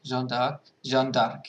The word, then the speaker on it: Jeanne d'Arc: The winner was actually a tie between Zombie Jeanne of Arc and Jeanne d'Arc.